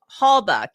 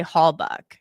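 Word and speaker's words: Halbach: And I remember they were like, "Halbuk, you know, buck like a deer." And they went like that. So I always say Hallbuck because that's what they told me even though it's spelled Bach.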